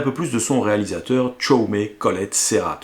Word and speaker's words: Jaume: plus de son réalisateur chome colollette serat oui je dis chome parce que je prononce à la catalan comme il se doit bon ce sinast squat